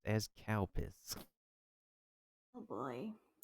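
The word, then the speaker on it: Calpis: The the drink that is pronounced as cowpiss.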